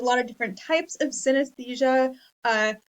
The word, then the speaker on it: synesthesia: a look at this word um it is pronounced synesthesia um and uh it is what we are